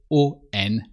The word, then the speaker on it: on: So on, that sounds on. You don't pronounce the N. The N is just here to modify, to change the sound of the O into on. That makes a new vowel.